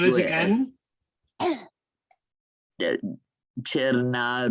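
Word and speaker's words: Černá: Cherna Rouge. Cherna means black, and you spell it Cerna, and Rouge is rose.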